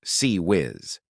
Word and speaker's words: CIWS: The close-in weapon systems known as CIWS, pronounced C whiz.